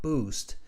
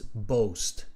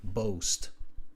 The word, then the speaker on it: boast: which my town can uh boast it's not boost it's boast the pronunciation of that word boast it's an it's not a b-o-o it's a b-o-a boast okay uh both of uh which is a